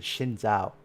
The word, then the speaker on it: Xin Zhao: I didn't say Jin, I said Xin Zhao. That's how you pronounce it.